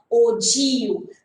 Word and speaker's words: ogive: g i v e how can you pronounce this one so we have to pronounce this one in the form of o g okay we have to pronounce this one in the form of ogu this curve is called